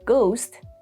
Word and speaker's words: ghost: For example, in the word ghost, G is pronounced, H is silent.